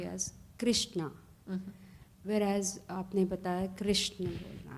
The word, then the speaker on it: कृष्ण: तो जैसे हम हरे राम संकीर्तन करते हैं तो सबको हिदायत कर दी कि हरे कृष्ण कृष्ण कृष्ण हरे हरे, ना हरे कृष्णा. But most people do say Krishna still. But the correct pronunciation is Krishna.